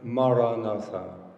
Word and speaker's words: Maranatha: If you choose this word, Maranatha, say it as 4 syllables. Maranatha.